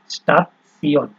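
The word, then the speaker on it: Station: স্টাফসিয়ন, ঠিক আছে, এরপরে হচ্ছে আপনার স্টাফসিয়ন, ঠিক আছে। এটা কিন্তু আমরা ওই যে নর্মালি আপনার হচ্ছে স্টেশন, ইংলিশে যখন আমরা পড়তাম, ঠিক আছে, স্টেশন আছে না, তো ওই বানানটা ওই রকমই, কিন্তু উচ্চারণটা হচ্ছে স্টাফসিয়ন।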